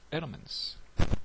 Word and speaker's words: LMMS: called elements so it's spelled l MMS but pronounced elements I'm going to do that I like it